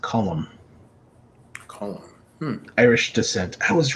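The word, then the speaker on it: Colm: yeah i'm curious um what ethnicity is oh this first name is pronounced column irish descent i was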